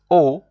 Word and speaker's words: au: see there in red Au which is pronounced o and then you have